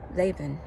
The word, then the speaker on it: Laban: Jacob said to them Laban Laban that's how you pronounce that one send me away that